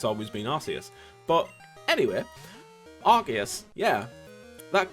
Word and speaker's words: Arceus: legends arceus or arceus apparently that's how it's pronounced arceus it's uh even though it's always been osceous but anyway argus yeah that got announced and